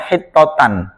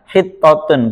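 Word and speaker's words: حطة: Jadi kalau dijadikan maf'ul mutlak berarti bacanya hittotan ya, di qiraah lain. Kalau qiraah yang masyhur yang kita gunakan hittotun, berarti khobar dari mubtada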